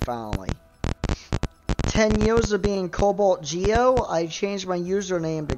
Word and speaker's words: CobaltG0: But listen, the zero is still pronounced as an O. It is. You know that, right? You know, it's not pronounced CobaltG0, it's pronounced CobaltGeo.